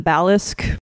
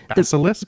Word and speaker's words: Basilisk: So the monster in this one is the Balisk. That's how you say it. Basilisk.